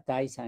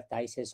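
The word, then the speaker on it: Thijs: diapositiva a thais efema se pronuncia taiza el nombre suena como tics pero se pronuncia tyces holandés él es un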